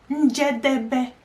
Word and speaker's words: Njedebe: Okay, Njedebe. Njedebe. 4 syllables.